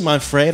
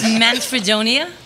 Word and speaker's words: Manfredonia: need to know why we're joined by Marcy mon-fri that's a silly ah no did I get that right no but it's okay it's pronounced man's Fredonia Siciliano so I didn't write all the letters